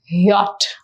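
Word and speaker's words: Jot: So it is pronounced as yacht.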